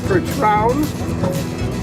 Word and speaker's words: Percheron: Their heritage is from France. Their actual pronunciation is Percherons.